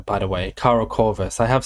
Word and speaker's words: KaraCorvus: So British people actually say it correctly more often than not, I think, because you don't really say Kara very much, right?